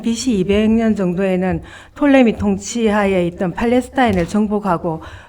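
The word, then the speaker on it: Ptolemy: 자, 여기 보면은 이제는 톨레미 2세로 내려가는 거죠. 예, 이 도표를 보면서 하는 게 좋을 것 예, 같은데 예. 이게 톨레미라 그러기도 하고 프톨레미 이렇게 얘기하는데 영어식 발음이 P를 묵음으로 보니까 톨레미라고 이야기하죠.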